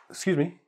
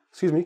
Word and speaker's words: excuse me: that's what's important okay sometimes we even drop the initial vowel so here excuse me excuse me can I ask you